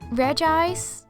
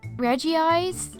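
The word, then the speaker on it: Regice: Muna I've actually seen a lot of people pronounce this as Mona but it's definitely Mauna reg ice Reggie ice oh this one is so confusing you'd assume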